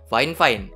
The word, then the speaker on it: Fifine: adalah headset fine-fine karena sudah dikoreksi sama mereka kemarin rupanya bukan V5 Tapi bacanya Flying fine Nah kita lanjut secara